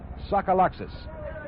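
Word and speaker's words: Tsagalakis: He spells his name T-S-A-G-A-L-A-K-I-S and pronounces it Sokoloxis.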